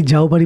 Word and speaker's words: যাওবাড়ি: বিভিন্ন বোর্ড দেখে জানলাম উচ্চারণটা আসলে যাওবাড়ি। কিন্তু অনেককেই এখানে যৌবাড়ি বা যৌবাড়ি বলতে শুনেছি। দুটোর কাছাকাছি যাও বাড়ি পৌঁছালাম।